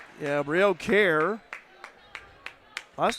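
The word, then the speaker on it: Kehrer: Brio Care. Last name is slow. K E H R E R but it's pronounced care.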